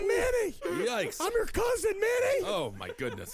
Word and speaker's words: Minni: I'm your cousin, Minnie! Oh, my goodness. It rhymes with Winnie! It's M-I-N-N-I! Hey!